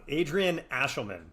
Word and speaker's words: Adrian Ashelman: figure it out, but Adrian Ashelman, huge fan of ours. That is how you pronounce the name.